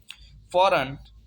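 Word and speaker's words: foreign: फॉरन, फॉरन mean गैर मुल्की। यहाँ पे एन से पहले जी आया तो इसे हम साइलेंट पढ़ेंगे, साइलेंट हो जाएगा, इसे जी को हम प्रोनाउंस नहीं करेंगे इस वर्ड में।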